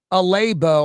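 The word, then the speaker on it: Alabo: Alabbo, I guess, is how you pronounce it.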